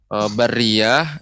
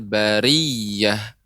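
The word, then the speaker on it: الْبَرِيَّة: Kemudian bariyah itu tasydidnya pada huruf ya. Huruf ra tidak bertasydid. Ulaika hum khairul bariyah. Bariyah. Silakan Ibu diulang kembali. Ulaika hum syarrul bariyah. Oh, yang syarrul bariyah, Ibu.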